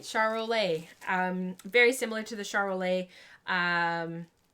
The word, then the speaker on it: Charolais: Oh, I did say it right, Charolais.